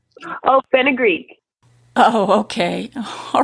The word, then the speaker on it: fenugreek: A lot of the ingredients sound very exotic, like fungeek. Is that how you say that? Did I pronounce that right? Oh, fenugreek.